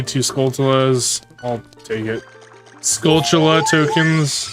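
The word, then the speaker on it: Skulltula: Scultula tokens. It's technically how it's pronounced.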